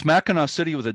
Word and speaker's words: Mackinac: Even though it's spelled with a C at the end, it's always pronounced Mackinac.